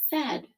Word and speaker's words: said: as you would expect the a i is the tricky part in the word and it is pronounced with the e sound so let's practice writing